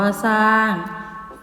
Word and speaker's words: สร้าง: ตัว เดียว เช่น สร้าง อ่าน ว่า สร้าง จริง อ่าน ว่า จริง